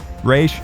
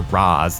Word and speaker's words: Ra's: Ra's, or Raz as it's pronounced both ways in the film, is played by former